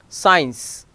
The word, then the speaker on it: science: Silent after S and before I or E, C becomes silent. Science, conscious, scissors, descent, muscle, scent, fascinate and scene, here C is silent.